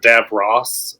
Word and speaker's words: Davos: actually I think the they actually pronounce it DAV Ross in like DAV Ross in the show a bunch of times